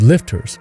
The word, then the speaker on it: LFTR: a safer work environment thorium reactors are called lftr's commonly pronounced as lifters which stands for liquid